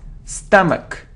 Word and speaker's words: stomach: It isn't stomach or stomach, it's like but, stomach, stomach.